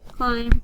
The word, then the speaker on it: climb: words here we go climb climb climb climb climb the cat will climb another tree and the bee is silent that's that's why it's not climb but another another another